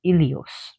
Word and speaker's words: Helios: So actually his name would be Ilios because the H is not pronounced in the Greek language.